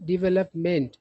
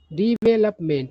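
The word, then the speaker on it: development: तरीके से करना तो इसका सही उच्चारण होता है डिवेलपमेंट है ना डेवलपमेंट नहीं डिवेलपमेंट ठीक है ना डी पढ़ा जाता है तो करा है कि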